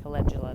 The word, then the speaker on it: calendula: I've been pronouncing it calendula, but I heard somebody pronounce it calendula the other day.